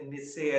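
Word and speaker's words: Nietzsche: जैसे निस्से या नीचे, क्या उनको अलग अलग नामों से पुकारा जाता है, उसके उच्चारण के अंतर के कारण सामान्य तौर पर हम लोग निस्से ही कहते हैं।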